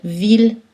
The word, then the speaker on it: ville: habituellement, culturel, L, pâle, mais ILL sont prononcées en général aïe, sauf dans les trois exceptions, mille, ville, tranquille, et tous leurs dérivés, comme village, million, tranquillement. Aussi dans le mot Achille ou le nom de ville Lille, c'est prononcé L.